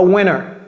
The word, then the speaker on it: winter: on enlev ce t on enlev ce T et ça ça devient comme un a donc ici c'est c'est